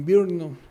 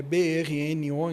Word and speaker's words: Brno: Nós temos depois em Birnon, Birnon é brno, então é difícil pronunciar na República Checa, uma